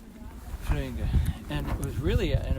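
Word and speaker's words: Flyinge: When I lived in Sweden, I lived in a town called Flöinge. It took me a while to say it like they say it. And it was spelled F-L-Y-I-N-G-E. Flöinge.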